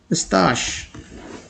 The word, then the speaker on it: mustache: I don't know how do you pronounce this word, but the correct pronunciation is mustache. Mustache.